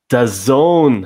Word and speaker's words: DAZN: channel in Turkey, 11 Sports in Belgium, and DAZN. Is that the right way to pronounce it, Evan?